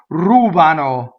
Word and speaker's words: rubano: Ruban, rubano, right? So this is the third person plural. They steal, right? So anything that's they is usually on the antepenultimate syllable. Rubano, right? Antepenultimate, second to last.